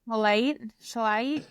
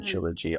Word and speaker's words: Shilajit: then the last product, which I think is really interesting, and I'm gonna mispronounce it, but the I Himalayan know. Shilajit, Shilajit.